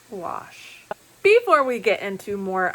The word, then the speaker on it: gouache: I had to go to Google and listen several times to the pronunciation, but it is French and it is pronounced gouache.